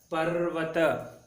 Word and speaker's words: पर्वत: उसी प्रकार प जमा र की मात्रा जमा व जमा त, पर्वत। हाँ, आधा र और पूरा व मिलकर व, पर्वत, ऐसे आपको सही से उच्चारण करना है, पर्वत।